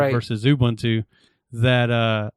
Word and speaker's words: Ubuntu: be in there eventually ubuntu will uh release that speaking of ubuntu i know how to pronounce it it's ubuntu i understand that i